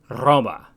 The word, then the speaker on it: Roma: name for Rome then should really sound like Roma there are also certain combinations of consonants that have a distinct pronunciation in classical Latin x and z for